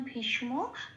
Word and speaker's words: ভীষ্ম: যেমন ভীষ, এখানে শটা স হিসেবে উচ্চারিত হবে না, শটা সবসময় আগের অক্ষরের সাথে জুড়ে উচ্চারিত হবে, ভীষ হয়ে যাবে।